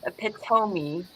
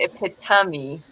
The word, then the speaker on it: epitome: said today i learned epitome isn't pronounced a pit homie but it hit tommy i've been saying i've